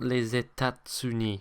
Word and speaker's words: États-Unis: I think first and foremost, you need to remember that that second T in État is silent. It is not les États-Unis, which I hear a lot. Okay, it is les États-Unis. The second thing is that liaison.